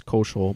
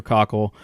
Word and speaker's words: Cockle: We were mispronouncing his name as Koschel, but it's Andrew Cockle.